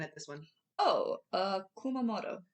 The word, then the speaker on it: Kumamoto: I was looking at this one oh uh Kumamoto Kumamoto all right so in Kumamoto the hometown of